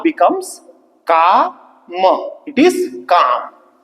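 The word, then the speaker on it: काम: It is calm. We pronounce this as calm.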